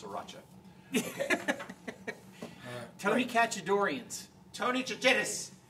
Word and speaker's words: Sriracha: No, but Brian texts, it's Sriracha. I don't think that's true, Brian. That's how you pronounce Sriracha.